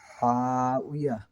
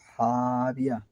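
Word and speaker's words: هاوية: যেমন 9 নম্বর আয়াতে যে ভুলটা সে করেছে, যে সে এভাবে বলেছে ফা উম্মুহু হাউইয়া, কিন্তু এটা হবে ফা উম্মুহু হাবিয়া। ওয়ার নিচে জের হলে বি হয়, বি না হলে তাকবীর হবে না।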